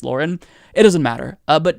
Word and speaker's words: Lauren: you pronounce her name i've been saying laura bilbert for the longest time i just found out recently that it's lauren it doesn't matter uh